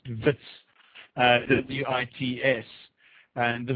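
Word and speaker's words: Wits: abbreviated as uh vits it's pronounced vits ws and the v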